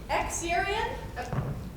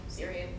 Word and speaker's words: Xerian: My name is Xerian. Actually, it's pronounced Syrian.